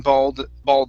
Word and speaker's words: bald: So here we want to say an ah sound. So massively growing bald spots.